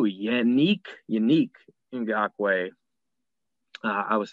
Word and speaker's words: Ngakoue: Number 2, Yannick Ngakoue. I was saying his name wrong before.